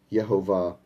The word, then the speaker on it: Jehovah: that do say that the correct pronunciation of yochay bhave is Jehovah in fact it was